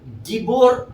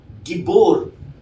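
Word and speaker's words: גיבור: जिसका original language में अर्थात हबू में इसको गिबोर हल कहा गया है।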